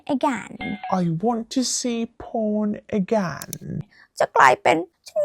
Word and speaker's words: พร: คุณ บอก ไป เลย my to name is por ชื่อ ไทย ของ ฉัน น่ะ พร นะ จ๊ะ it means blessing มัน หมาย ถึง ว่า blessing นะ ภาษา อังกฤษ น่ะ it has Nothing To Do With The English Word มัน บ่ มี อียัง